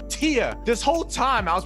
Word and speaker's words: Thea: it with tia yes t-h-e-a is pronounced tia this whole time i